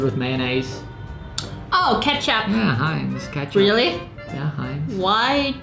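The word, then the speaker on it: Heinz: Hines.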